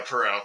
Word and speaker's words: Poirot: actor being I'm trying to pronounce it, Hercule Poirot. It's like a French name or something like that. But anyway, Hercule the main Poirot, yeah. Yeah, Poirot. There we go, Poirot.